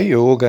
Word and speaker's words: yoga: Cada mestre, a palavra yoga, né? Yoga não, tá, gente? Que o sânscrito, o O é fechado, então se escreve yoga, mas se lê yoga.